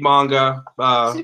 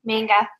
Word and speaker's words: manga: Yeah, so I'm learning to read manga, which is completely backwards from, No, you're saying it wrong. The way... Manga. Manga. Just like you say, not too wrong.